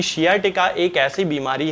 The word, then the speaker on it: sciatica: बीमारी हो जाती है, जिसे कि साइटिका बहुत सारे लोग कहते हैं। हालांकि इसका सही प्रोनाउंसिएशन जो है वो शियाटिका होता है।